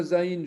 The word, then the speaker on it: zaïn: La lettre zaïn, je vous ai dit que ça veut dire une arme, une hache. Parfois une épée ou un poignard. Zaïn se prononce entre les dents, constitué de deux lignes parallèles.